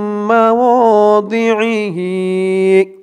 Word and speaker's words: مواضعه: দিহি বলবেন না কিন্তু, এখানে দোয়াত উচ্চারণ করতে হবে দি, দি, আম্মা ওয়াদিহি। মিনাল্লাযীনা হাদু ইউহাররিফুনাল কালিমা আম মাওয়াদিহি।